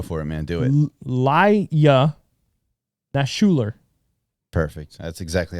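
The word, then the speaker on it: Ilya Naishuller: Laya Nashuler. Perfect. That's exactly how it's pronounced.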